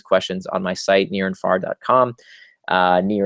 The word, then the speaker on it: Nir: Near is spelled like my first name, N-I-R.